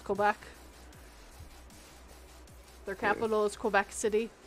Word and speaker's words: Quebec: but you got Ontario I think you said Quebec a little bit wrong because it is French it's Quebec their capital is Quebec